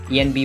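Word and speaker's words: enby: they as a pronoun Envy is a phonotic pronunciation of ENB it stands for non-binary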